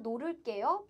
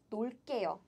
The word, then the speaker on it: 놀게요: So If verb stem ends in consonant 를, 를, it's not 놀을게요, but it's only 게요, 놀게요, as in 놀게요.